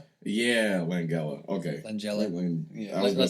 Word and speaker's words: Langella: James Marsden, how do you pronounce this guy's name? Franklin Langella. Yeah, Langella.